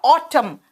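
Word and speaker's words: autumn: पत झड़ है बेटा ऑटम स्पेलिंग है ए यू टी यू एम एन लेकिन यहां एन साइलेंट है आर या तो सॉफ्ट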